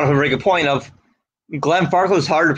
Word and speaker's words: Glenfarclas: to save their lives they used to pronounce it glenn farquhar thank you try telling